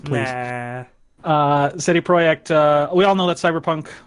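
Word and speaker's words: CD Projekt: yeah I'll just really quickly go over this say a project is how it's pronounced like yeah City project we all know that cyberpunk 2077 is coming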